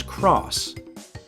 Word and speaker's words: cross: meant yes and x-men no while most gamers pronounce the X button as X it is actually pronounced as cross ps1 discs were coated black because at the